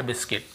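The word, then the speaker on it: biscuit: ई आई ओ यू के पहले यदि आपको यू मिलता है तो फिर हमें उसे नहीं पढ़ना है ऐसे पढ़ना है गाइल guild guilt guitar guard बिस्किट अब यू के बाद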